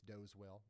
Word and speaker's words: Doswell: Doswell, and another one it's Doswell. Well, got quite a bit of rotation down here by Hanover. And another one, the S is silent.